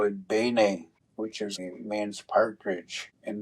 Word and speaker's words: Bine: u they came down to a place called Beina which is how they pronounce it now. That's a English pronunciation. We call it Bay, which is means partridge in the Ojiua language.